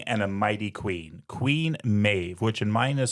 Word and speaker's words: Medb: This is a mighty king and a mighty queen, Queen Medb, which in mine is spelled m e d b. So, this is one of those examples of the b being a v sound.